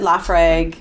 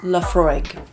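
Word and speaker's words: Laphroaig: but now he suggested lafre quarter Cask which Laura it's pronounced laf fry which if you know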